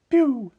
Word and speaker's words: pew: P-U-E, P, or P-E-U-H, P, P-E-U-G-H, Pich, P-Y-O-O, Pew, and P-E-W, Pew. And so even though it's pronounced Pew, it's often stretched into two syllables for emphasis in P-U.